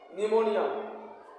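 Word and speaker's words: pneumonia: P silent है देखिए यहां दो वर्ड है सा साइकोलॉजी और निमोनिया दोनों में पी सेट है लिखा जाएगा प से प एस वा सीओ एओ पी एस वा सीओ एओ जीी वा साइकोलॉजी मनोविज्ञान य प का उच्चारण नहीं होगा पी इसमें मुख लेटर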